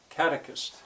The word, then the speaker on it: catechist: Which is the stressed syllable? Catechist. And they couldn't always hear it.